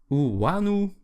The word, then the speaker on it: Iunu: So Wanu. It's spelled I-U-N-U.